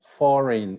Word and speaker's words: foreign: don't speak the b foreign you don't speak the g half you don't speak